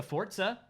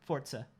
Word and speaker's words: Forza: I'm sure we'll see a Forza. I'm sure we'll... Is that how you say it? Yeah, it's Italian. Forza. It's like pizza?